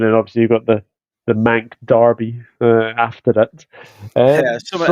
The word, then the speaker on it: Manc: Is I think it's obviously the first game on Sunday, and then obviously you've got the Manc Derby after it. Yeah, something else So that rhymes with mank is the word I was thinking, but yeah.